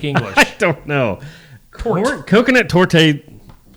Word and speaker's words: torte: Well, I'm looking I'm looking on Google and actually the e can be silent, but in other countries it's pronounced with a e to the e to so there.